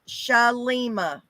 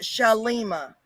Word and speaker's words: Shalima: to do that it's it's pronounced shalima sort of like Selena but shalima I like that that's